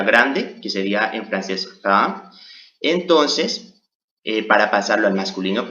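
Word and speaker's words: grands: que sería en francés grand. Entonces, para pasarlo al masculino pluriel decimos grand. Pero tenemos que saber, o mejor dicho recordar, que no debemos pronunciar la S al final.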